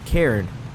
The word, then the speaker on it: Cairn: So he pronounced it Cairn, which I think was the original pronunciation I was going with.